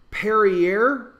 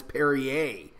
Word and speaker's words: Perrier: back to me but parry air Perrier / what is it it's odd to me that it's spelled that way and people tell me that I'm wrong it's Perrier so if it's Perrier